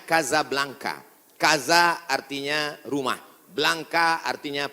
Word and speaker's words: Casablanca: Hasan dua di Kota Kasablanka Hai ibukota Maroko tempat saya kuliah nama negaranya Maroko ibukotanya tulisannya Casablanca cara bacanya Kasablanka Kaza artinya rumah Blanca